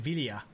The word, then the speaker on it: Villa: Some people say Villa, but it's supposed to be pronounced David Villa.